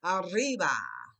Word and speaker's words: arriba: Double R. Ra, ra, arriba. One up.